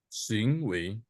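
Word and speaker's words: 行为: 行为 W-nya harus kedua.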